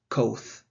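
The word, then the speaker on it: coth: america it is pronounced koth rounds rhymes with the word both and finally is hyperbolic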